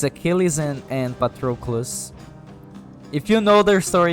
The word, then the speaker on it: Patroclus: greek mythology i think hello patrollos but true i i can never say his name right uh where's the